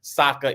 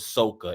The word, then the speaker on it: Sokka: So it was not Aang, it was Ong. It was not Sokka, it was Soka. It was not Iroh, it was Ero.